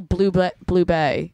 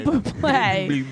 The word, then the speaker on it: Bublé: Oh, so it's like Michael Blue Bay. Wait, how do you say his What? name? No. Not blue, it's not Blue Blay. Michael Bublé. It is.